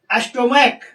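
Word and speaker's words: stomach: अगर सी एच का उच्चारण क हो अगर सी एच का उच्चारण क हो तब सिंगुलर नाउन के अंत में एस जोड़कर प्लुरल बनाया जाता है। जैसे स्टोमक यहां पर च का उच्चारण क हो रहा है।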